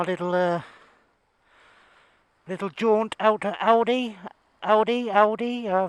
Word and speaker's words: Aldi: uh little jaunt elder audi audi uh we pronounce it yes it's aldi okay thanks for watching